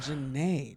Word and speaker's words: Jeanette: I think it's pronounced Janae.